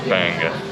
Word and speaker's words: bangus: Bangus. There's a bunch of comments now. Wait, did we pronounce it wrong?